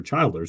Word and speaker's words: Childers: asked him I said how do you pronounce the last name is that guy say ERS or Childers and we we believe it's Childers but he was uh